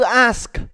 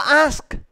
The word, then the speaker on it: ask: nghe được không theo các bạn cái từ ask bạn đọc là as người ta có hiểu là là từ hỏi không có bốm Có không Bấm không nào từ nó là ask TH là đọc là as thì đấy ngày